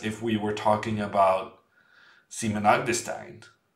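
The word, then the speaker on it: Simen: we were talking about seaman I'm disdain'd I'm not gonna call him Simon because while that would be like the normal English pronunciation it's just not his name it's a different name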